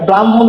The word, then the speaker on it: ব্রাহ্মণ: যোগ ম রয়েছে এখন হ যোগ ম আমাদের কি হবে পরের বর্ণের উচ্চারণ আগে হবে আগের বর্ণের উচ্চারণ পরে হবে তার কারণে এখানে কি